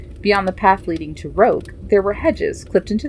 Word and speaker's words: roque: side is wood come out you little it's pronounced Rogue Daddy was saying I'll teach you how to